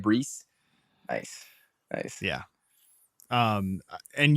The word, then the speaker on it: Breece: was his name Brees this is Reese Hall yeah that's how you say it Brees nice nice yeah um